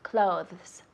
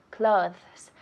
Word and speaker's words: clothes: Decimos clothes. Clothes. La TH es suave, pero lo decimos clothes.